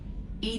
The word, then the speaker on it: EDI: is a jar why are you named Ed Ed is the phonetic pronunciation of e that is an acronym for